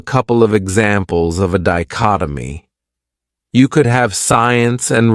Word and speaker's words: dichotomy: Another great noun is dichotomy. This word has 4 syllables, and the stress is on that second syllable, dichotomy. That third syllable has that schwa, that sound. Dichotomy.